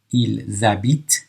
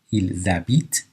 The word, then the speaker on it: ils habitent: ایل زبیت این اش موه هستش یعنی تلفظ نمیشه، در اینجا مثل این میمونه اصلا این اش وجود نداره، پس این اس به این ا میچسبه میشه ایل زبیت.